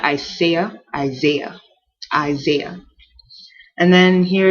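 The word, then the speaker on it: Isaiah: and then we have isah isah so this is an s but it almost ss like a z isah not isah isah isah and then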